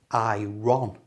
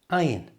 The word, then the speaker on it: iron: There is one exception, and that exception is the word iron. If we followed our rule that the R followed by a vowel sound has to be pronounced, it should be iron, but it's not. It's the only word that I know that does this. It's just pronounced iron. The R here is silent.